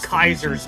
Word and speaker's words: Caesar: Four years have passed since Okay, so the narrator calls it Caesar's Legion, but they call it Kaiser's Legion in the game.